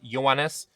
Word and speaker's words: Ioannis: I had some help in my comments about how to pronounce this. Ioannis.